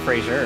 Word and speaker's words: Fraser: Oh, like laser. Got it.